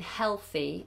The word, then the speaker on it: healthy: So with the L in healthy, I tend to cheat it because it's hard to do an L and then a TH. Healthy, healthy. It's difficult. So I tend to pronounce the L by putting my tongue between my teeth early. Hell, healthy, healthy. So just have your tongue out because the TH is more important.